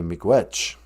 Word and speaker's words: miigwech: How do you say thank you in Ojibwe? Say miigwech.